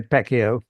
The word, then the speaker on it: Pacio: We normally say Pacquiao with a hard C.